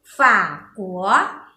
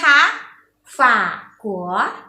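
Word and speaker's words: 法国: ประเศษ เนี่ย ภาษา จีน ออก เสียง วัด ขอ ฝาก หัว อีก ครั้ง นะ คะ ฝาก หัว ใน เด็ก ลอง พูด สิ คะ อ่ะ ถือ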